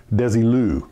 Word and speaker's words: Desilu: Oh, by the way, before I go any further, I keep saying Desilu, and I was reminded by several people it's Desilu. That's how you say it.